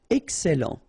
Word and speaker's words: excellent: Excellent. Remember, double L and E before, it will open the E. So, excellent. Excellent.